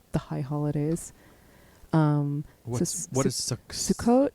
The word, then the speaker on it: Sukkot: Yeah, Sukkot. So that's the Ashkenazic pronunciation.